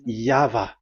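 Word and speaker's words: Yahweh: explanation but that is the phonms the pronunciation pronunciation is equal V. It is V. Y H VH. So it is Yava.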